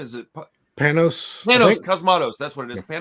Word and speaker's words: Panos Cosmatos: Is it Panos Cosmatos, that's what it is.